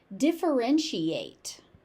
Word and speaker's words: differentiate: Differentiate. Defren she ate. differentiate. So, one, two, three, four, five syllables.